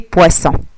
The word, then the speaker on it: poisson: Alors c'est pour cela on a ajouté un deuxième S pour soutenir son ami le premier S, afin qu'on puisse prononcer le son S.